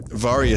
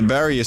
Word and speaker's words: Varia: Anyway, I have the, Varia suit, which allows me to survive these extreme temperatures. Now, you'll notice here that the Baria suit... I'm sorry, did I say Baria?